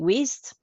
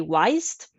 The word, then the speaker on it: Wized: web apps using waste I think you pronounce it waste some people say wise let me know how